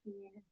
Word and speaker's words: Ximena: No, no se preocupe, se pronuncia Jimena.